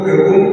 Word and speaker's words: ओम: थे तो 3 बार ओम का उच्चारण होता था। ऊ म, इसमें 3 अक्षर है, आ उ म।